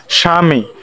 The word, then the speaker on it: স্বামী: তাহলে এক নাম্বারটা কি শব্দের শুরুতে ব ফালা থাকলে ব ফলার উচ্চারণ হয় না যেমন স্বামী দেখো স্বামী দেওয়া আছে তারপরে